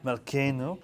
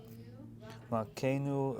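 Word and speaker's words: מלכנו: Well, remember, the Shavah is silent unless there's usually one right next to the other. So if you have Malkeinu, yeah, Avinu, Malkeinu. So that's doing the A.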